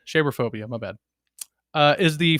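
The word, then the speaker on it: Cherophobia: Sheraphobia. It is pronounced share like shea butter. Sherphobia.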